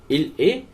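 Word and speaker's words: il est: इल ए mécanicien, इल ए mécanicien। अब देखिए टी एम से नहीं जुड़ेगा क्योंकि एम जो है वोवल नहीं है, तो इसे ऐसे पढ़ा जाएगा इल ए, टी यहां पे साइलेंट हो जाएगा।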